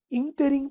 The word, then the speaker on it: ínterim: É ínterim? É aerólito, aerolito? Pessoal, gabarito letra B. Pudico, paroxítona, ínterim, proparoxítona e aerólito, proparoxítona.